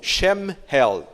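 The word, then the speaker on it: שמואל: quer dizer em hebraico Samuel pronuncia-se Mais ou menos como chame Head chem em hebraico quer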